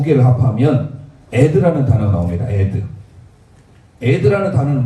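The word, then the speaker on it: עד: 유일하게 크게 있는 단어 이 두 개를 합하면 에드라는 단어가 나옵니다. 에드. 에드라는 단어는 뭐냐면 증인이라는 뜻이에요. 놀랍습니다. 에드 이렇게 쓰거든요. 이렇게 읽어요. 아이는 에의 발음이죠. 에드, 에드.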